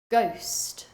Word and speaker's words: ghost: Ghost, ghost.